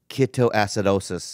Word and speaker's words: ketoacidosis: to pronounce this word keto keto acid acid osis ketoacidosis yes that's what you